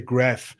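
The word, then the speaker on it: Grafenwöhr: big American military base, Grafware. The Americans say Graf.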